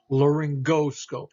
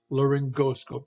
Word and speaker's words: laryngoscope: Laryngoscope. Here's a G followed by an O. Laryngoscope, not laryngoscope. So laryngoscope, a hard G or G sound.